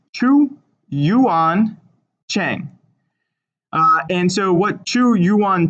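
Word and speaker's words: Zhu Yuanzhang: So this ZH is actually going to be pronounced CH. So it's Chu Yuan Cheng.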